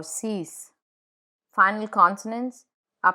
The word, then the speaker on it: six: Final consonants are pronounced in numbers, like cinq or six.